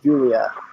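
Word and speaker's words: Giulia: I'm really surprised we didn't get a good ulia g-i-u-l-i-a pronounced Julia anyway um emphasis on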